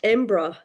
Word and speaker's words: Edinburgh: Well, also, there's an Edinburgh connection almost with Amber's book, because you can pronounce Edinburgh Embra. So some people go Embra.